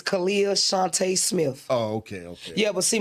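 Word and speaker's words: Khalilah Shunta Smith: of ghetto terminology because the way that it's spelled like Kalila Shanta. But I just want to correct everybody, let you know it's Kalia Shante Smith, Smith the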